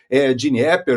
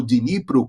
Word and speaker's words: Dnipro: Provavelmente, alguma área desmilitarizada será negociada ali a leste do rio Dnieper, ou Dnipro, como se fala hoje em dia.